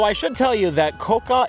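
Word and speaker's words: Kōka: Though I should tell you that Koka is also commonly pronounced Koga, which is the name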